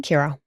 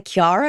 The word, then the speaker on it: Kira: Kira. It's actually my middle name. Oh, Kira. Because sometimes I say Kiara and I'm like, no, that's not right. Kira.